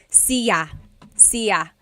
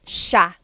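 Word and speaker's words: siya: It looks like it should be pronounced sa cia but it's actually pronounced sha sha.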